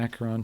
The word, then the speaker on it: Acheron: was the name sorry i probably have been pronouncing it completely wrong oh after okay akaron is the is the river in hades gotcha